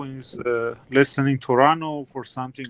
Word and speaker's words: Toronto: by n some people some people in North America will drop the T and just pronounce the letter n as in Toronto instead of Toronto Dennis granted identical identity